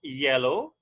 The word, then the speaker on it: yellow: So just say yeah and low.